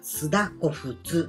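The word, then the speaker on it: Sonderkraftfahrzeug: たいと思いますこの sdkfz というのはゾンダクラフトフォラサイゲと読むそうでえマニアの間ではスダコフツというそうですこれは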